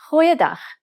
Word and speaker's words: Goeiedag: Try pronouncing it from the back of your throat. Goeiedag. Goeiedag.